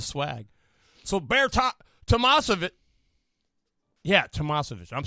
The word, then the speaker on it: Tamasovich: Yeah, Tamasovich.